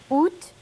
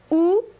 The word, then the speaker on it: Août: And I'll take a little time out here because there are two pronunciations for this. Most of the time you won't hear the T, but if you do, it's okay. And then septembre.